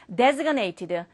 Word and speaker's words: designated: 지난달에 나왔던 거죠 자 요거 발음 좀 조심하세요 요걸 갖다가 어떤 학생들 디라 하는데 그게 아니라 designated designated고 해서 지정된 요런 것들